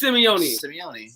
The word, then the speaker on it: Simeone: Officially settled. It is Simeone.